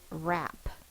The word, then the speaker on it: wrap: we're going to do words that have the W spelling for the r sound the first what we'll do is wrap I will wrap the Christmas presents r a r is the W WR goes in one box it's only making one sound the W is silent R A please draw